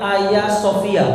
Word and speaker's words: Hagia Sophia: museum dijadikan masjid namanya ayasofia pernah dengar Sagan dengan murah dengan Oke tulisannya Hagia Sophia bacanya Ayah Sofyan orang Turki itu gak bisa bilang G trek enggak ada G jadi kalau kita